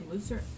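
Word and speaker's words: מותר: He didn't say mutter, he said mutter. Oh, mutar. Oh, One that's second. a different one. There's one, permissible is spelled mem, vav, tov, resh, and musar, admonishment, Right. okay, it's spelled with a samach.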